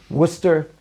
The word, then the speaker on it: Worcester: I think it's actually pronounced Hushatin, even though it's written Husyatin. It's kind of like in Massachusetts we had Worcester, and Israelis will say, do you know my cousins, they live in Worcester?